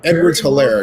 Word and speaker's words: Edwards-Helaire: Edwards-Helaire, excuse me. Edwards-Helaire. Edwards-Helaire reminds me of Maurice Jones-Drew in his running style, if you've ever seen Maurice Jones-Drew run. Anyway, Edwards-Helaire is to Mahomes' left.